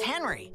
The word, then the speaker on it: Henry: My name is Henry. It rhymes with friendly. It also rhymes with Schmenry.